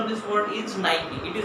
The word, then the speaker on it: Nike: It is Nike. How many of you have used this word like this, Nike? Very few of you. The correct pronunciation of this word is Nike.